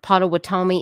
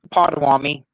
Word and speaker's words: Pottawatomie: And the Pottawatomie County Sheriff's Office, did I even say that right? Arctic, Pottawatomie, is that how you say it? It's Potawatomi.